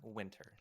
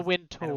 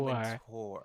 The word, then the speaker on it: Wintour: Anna Winter. You didn't pronounce it correctly, but I will accept. It's Anna How do you Wintour. pronounce- Anna Anna Wintour. Wintour.